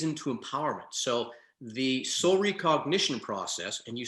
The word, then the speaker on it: Re-Cognition: So the Soul Re-Cognition Process, and you said it right, thank you.